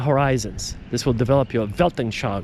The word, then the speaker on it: Weltanschauung: This will develop your Weltanschauung. Remember that German word? Weltanschauung. With a V when you pronounce it, but it's spelled with a kind of a W.